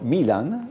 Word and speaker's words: Milan: 2 ne ha portati e quindi sono tornati a trovarci Antonio Cinquepalmi e Vittorino Milan, è giusto l'accento sulla I, quindi ben trovati a tutti e tre.